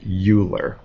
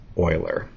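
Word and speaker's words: Euler: that he did uh a lot of people think that you would pronounce it uler but his name is actually pronounced Oiler and this is hugely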